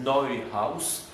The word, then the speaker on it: Neuhaus: Et c'était un certain monsieur on le prononce à la française, Neuhaus, c'est Neuhaus.